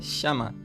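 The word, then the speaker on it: שְׁמַע: já obediência em hebraico significa chama porque esse a aqui do final ele tem um acento então fica chama e tem o seu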